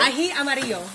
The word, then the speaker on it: ají amarillo: Ají amarillo.